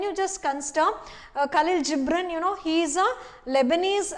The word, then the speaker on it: Gibran: that's that's about uh khalil gibran so some pronounce it as gibran but it's better to pronounce it as gibran okay she is a philosopher the the point